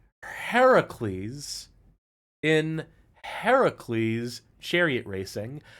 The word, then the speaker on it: Heracles: I'm hyper-pronunciating it because I keep wanting to read this as Hercules, but it is not. This is one of the only cases where it literally is spelled out Heracles.